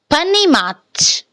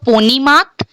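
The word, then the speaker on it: понимать: Panimat. Panimat. Panimat kyun instead of ponimat? We are pronouncing panimat because first rule, O is unstressed, so the sound will be a.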